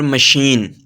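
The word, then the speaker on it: machine: ऐसे हैं जी या कभी-कभी सीच शीन की आवाज भी देता है जैसे पैराशूट और मशीन तो यह तो था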